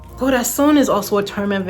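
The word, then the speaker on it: corazón: The next song I wrote was Goras. That one was harder because I know that goras is not the correct pronunciation. But the reason why is because I'm not talking about an actual heart. Gorason is also a term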